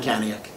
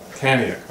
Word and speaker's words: Kaniuk: Am I pronouncing it right? You're pronouncing it right, Kaniuk. Kaniuk, okay.